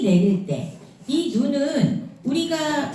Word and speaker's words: 눈: 사냥꾼을 사냥하다 아카시아 꽃처럼 눈이 내릴 때이 눈은 우리가 우리 보는 눈은 은 짧게 발음해요 눈 근데 하늘에서 내리는 눈은 눈 이렇게 길게 내려 길게 발음해요 장이에요음 그럼 이제 넘겨서